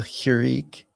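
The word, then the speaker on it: חִירִיק: And then you have a hirik, and this is just a single dot underneath the character, and that's an I like in bitter, so it's a I.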